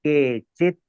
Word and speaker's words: केचित्: नैकात्मतां मे स्पृहयन्ति केचित् नैकात्मतां मे स्पृहयन्ति केचित् केचिन लिखा है तो भी केचित प्रोनाउंस करना है.